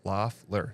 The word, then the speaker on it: Loeffler: As Brad Lang says, Loeffler. Thank you. He like put it out so I can pronounce it right.